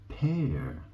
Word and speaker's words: père: And the word for dad in French is père.